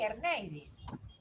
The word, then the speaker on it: Erneidis: Erneidis, ¿se pronuncia así? Erneidis. Sí, profe, lo dice bien.